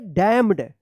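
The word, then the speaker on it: damned: क्या पढ़ेंगे यहां पे भी क्या है एन साइलेंट रहेगा डी एम एन ई डी क्या पढ़ेंगे डैम्ड डैम मत पढ़िएगा डैम्ड पढ़ेंगे ठीक है यहां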